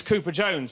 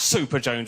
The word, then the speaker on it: Cooper: my second name is Cooper Jones which does begin with a c' but if you were unsure of how to pronounce this particular C you end up calling me super Jones which is in no